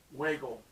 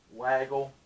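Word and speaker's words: Weigle: the name of charles wiggle and i couldn't be mispronouncing his last name waggle uh w e i g l e anyway uh is one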